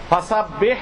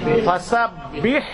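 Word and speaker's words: فسبّح: এইারও নাই ওকারও নাই ফাসাব যদি পড়ি তাহলে ব আমি দিলাম এটা নাই ফাসাবি কি পড়তে হবে ফাসাব্বিহ ফাসাব্বিহ অনেক ভাইয়েরা পড়ছেন বা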